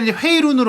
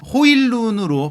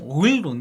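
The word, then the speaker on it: Højlund: 잠깐 간단하게 얘기 드리면 회의론으로 알려졌었는데 그 정확한 표기법과 최근에 그 공식적인 보도들을 보니까 호일룬으로 발음하는게 맞다 본인이 이제 그거가 직접 본인 이름을 가늠하는 영상도 있거든요 그러니까 약간 호일감과 오일룬의 중간이더라고요 그래서 약간 좀 오일론 이렇게 들리더라고요 일단은 저희 몸값 얘기를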